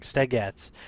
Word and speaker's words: stagette: I don't even know what a Stagette is. I'm assuming that's a bachelorette party. I'm going to look it up. Hold on. Okay, I'm back. Let's see. Stagette. I was pronouncing it wrong. Stagette.